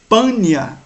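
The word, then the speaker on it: Paneas: de p e b Então em vez de pronunciar pania que é justamente que vem do Deus que era adorado nesse lugar certo de Pan era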